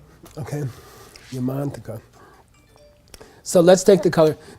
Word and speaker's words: Yamantaka: In English, we normally accent the penultimate syllable, the next to the last syllable. Ratnakara, Ratnakara, Yamantaka, Yamataka. Yeah, but if you know Sanskrit, you should be kind of giving more emphasis to the long vowel. Ratnakara. Okay, Ratnakara, Yamantaka.